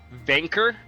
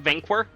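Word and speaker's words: Vainqueur: Vanker, not Vanquir. Not going to not going to pronounce the qu and the qu u e r e qu q u e u r.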